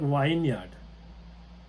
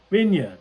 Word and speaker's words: vineyard: what's this it's see when you look at it it's like wine yard Vineyard yeah very good so